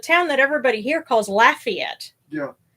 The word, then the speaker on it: Lafayette: In proper French, it would be Lafayette. Lafayette, yeah. But it kind of got distorted, and that's the difference between one of many differences between Cajun French and Continental French.